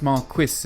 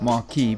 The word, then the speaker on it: Marquis: Fourth on the list was the Marquis of Westminster, pronounced Marquis and not Marquis because the Marquis of Westminster was Brit.